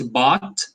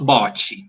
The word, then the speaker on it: bought: what is fine so the past of buy is bought repeats bought but yes it's not bocce i bought you a